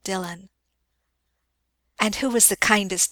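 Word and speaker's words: Dillwyn: Dylan Dylan M repeated that is the pronunciation of the name it is spelled D i l l w y n dwin but it is called Dylan and who was the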